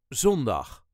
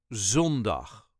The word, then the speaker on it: zondag: Of The Week is zondag zondag The emphasis on the first syllable zon dag zondag het gaat zondag regenen